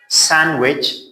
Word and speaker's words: sandwich: And this word, how do you pronounce it? Sandwich.